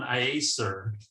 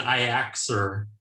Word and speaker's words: IACESR: pronounce it uh i i think we finally settled on iacer okay rather than i axer which sounded a bit flimmy so if you google i-a-e-c-s-r-i-a-c-e-s-r